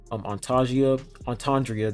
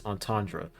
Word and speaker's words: Antandra: You can switch him out with Antandria, that's her name. I always say her name wrong. It's Antandra.